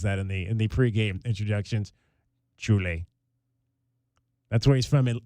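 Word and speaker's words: Šiauliai: Julie. That's where he's from in Lithuania. It's spelled Saulii.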